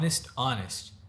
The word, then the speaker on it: honest: فقولها معايا to be honest فما هو honest زي كذا الاتش ما تنطق.